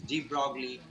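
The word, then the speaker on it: de Broglie: This is ডি ব্রগলি wavelength. This is জি, ডিটা ছোট হাতের, ব্রগলির beta বড় হাতের, এল আই ই, ডি ব্রগলি wavelength. এর অ্যাকচুয়াল উচ্চারণ, ফরাসি উচ্চারণ দ্য ব্রই।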